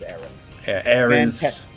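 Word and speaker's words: Aerith: Some people say Aith, some people say other things, but it is Aith.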